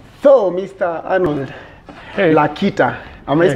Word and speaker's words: Lakita: Arnold Lakita, am I spelling your name right? Not pronouncing your name right?